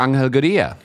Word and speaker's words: Angel Gurría: All right, guys, we better go and talk to Angel Gurría. This is the way I would pronounce his name.